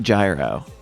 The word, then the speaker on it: gyro: say, oh, it's pronounced Euro. Oh, it's pronounced Euro. Oh, it's pronounced Euro. It's actually pronounced Euro. I know you like to say gyro.